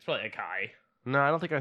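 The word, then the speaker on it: açaí: It's acai.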